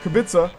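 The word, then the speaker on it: Kubica: I had another comment I keep pronouncing kubit wrong it's not kubika but kabit and I guess to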